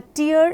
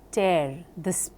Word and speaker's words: tear: Here, please notice the spelling of tear and tear are the same, but the way you pronounce these words makes a difference. It is T-E-A-R, tear in your eye, and tear in your dress. So, tear and tear, same spelling but different pronunciations.